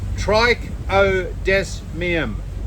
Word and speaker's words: Trichodesmium: It's called Trichodesmium. Trichodesmium. Yay! So you can say it. See, look. Say Trichodesmium. Trike. He said it's TRIKE dash O dash DES dash MEUM.